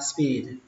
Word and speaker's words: speed: Từ đầu tiên, từ tốc độ thì các bạn đọc nó kéo dài chữ y ra, speed, speed, speed, speed limit sign, speed limit sign.